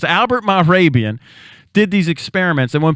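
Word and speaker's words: Mehrabian: It's Arabian with an M-E-H on the front. Marabian, that's it. Marabian. I always trip over it. So it's Albert Marabian did these experiments, and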